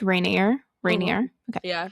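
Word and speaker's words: Raniere: Keith, I think it's Rainier. Rainier. Mm-hmm. Okay. Yeah, Rainier, like the mountain. Yeah. I looked it, but pronunciation.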